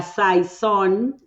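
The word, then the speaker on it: saison: Y la saón, se pronuncia así, Nico.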